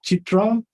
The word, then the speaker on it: CIITRA: This, am I pronouncing it correctly? Chitra Award?